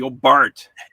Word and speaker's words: Hobart: i will be in hobart as soon as we get out of this country that's the one a that australians pronounce properly oh bart i know it's crazy